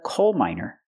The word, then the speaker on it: miner: minor or he's a coal miner same pronunciation as someone under 18 but it's spelled differently and it's a different